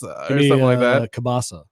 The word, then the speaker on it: kielbasa: do gyro do you have like a weird pronunciation for kielbasa give me the K bas cabassa cabassa kielbasa polish Tim yeah half polish half